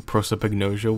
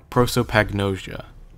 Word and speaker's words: prosopagnosia: pretty likely scenario also I hope I'm not pronouncing prosopagnosia weird because I remember from the Remake it's like prosopagnosia and so when I say it quickly it's like prosopagnosia the pag part the prosopagnosia I say that